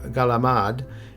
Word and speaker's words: calamari: After that, we'll have calamari, another seafood touch point that can be enjoyed in a variety of delicious ways on Christmas Eve. Calamari, or galamad, as it's pronounced in some families, consists of the rings and tentacles of squid.